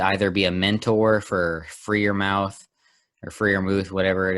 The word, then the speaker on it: Freiermuth: be a mentor for Freer Mouth or Freer Muth, whatever it is, Kyle Pitts, whoever it be. He could be a. What's with the name pronunciation in this? It's been said it's Freiermuth.